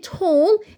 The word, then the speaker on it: whole: وكلمه whole الدبليو هنا معايا silent letter. silent letter يعني حرف ايه؟ ساكن ما بنطقوش.